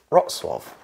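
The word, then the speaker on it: Wrocław: letters for example the the L we think is an L for watch is not oh no but it's not now because it's got a thing through but I wouldn't know what else to pronounce it no so no you are wrong it is rot Suave okay this one number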